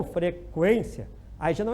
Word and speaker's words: frequência: Se for pronunciado, por exemplo, frequência, o U já é pronunciado, então não é dígrafo, certo? Então o U não pode ser pronunciado, porque ninguém diz frequência, né? Esse aluno tem um problema de frequência às aulas, né? Quem vai dizer assim, né? Então tem que pronunciar o U, frequência, aí já não é dígrafo, tá?